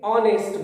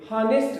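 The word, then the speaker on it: honest: ध्यान रखेंगे, ऑनेस्ट बोलेंगे, हानेस्ट नहीं बोलते हैं, यहां एच साइलेंट होता है, तो इसका ध्यान रखेंगे।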